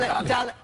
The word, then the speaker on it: Dale: It's called Dale. Oh, see, I would have said it wrong. You do it. No, you would have said. I would have said delay.